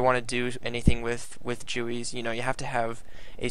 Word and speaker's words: GUI: It might bother you that I'm pronouncing Jooey wrong. I pronounce it Gooey in that episode, but yeah, so you'll just have to get past that.